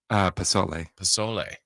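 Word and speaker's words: pozole: It looked like he made, do you pronounce it Pozzol or Pozzoli? Pasole.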